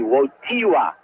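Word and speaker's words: Wojtyła: It's the accent is on the T. Wiiwa, although you spell it W T I L A Wii.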